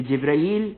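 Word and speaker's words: جبريل: अब यहां पर जो जिब्राइल की प्रोनाउंसिएशन, कि जिब्राइल जिब्राइल दुरुस्त है, जिब्रील दुरुस्त है, मीकाइल दुरुस्त है, मीकाल दुरुस्त है, लेकिन यहां पर क्या इस्तेमाल हुआ है?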